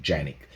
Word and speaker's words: Canik: pronounced it's actually pronounced yannick you know my ex-wife is turkish so i mean you know she says it's actually pronounced yannick even though we're here